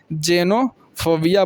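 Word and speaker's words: xenophobia: जैसे यहां पे देखिए एक्स ई एन ओ पी एच ओ बी आई ए इसको आप क्या बोलेंगे जेनोफोबिया बोलेंगे तो यानी कि एक्स का मतलब यहां प उच्चारण जे हो गया तो इसीलिए ना बोले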